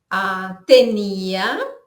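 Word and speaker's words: tenía: Tenia, que é a tradução de tinha, né? Atenção ao hiato aqui no final da palavra.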